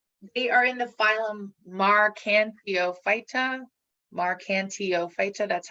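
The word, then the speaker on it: Marchantiophyta: they look like they are in the phylum marcan theophyta that's how you pronounce that and liverworts they like i said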